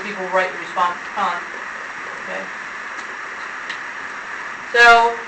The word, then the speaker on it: Kant: Kant. Have you heard the song Can't Touch This? Yeah. It's really spelled with a K. Kant. Immanuel Kant. K-A-N-T.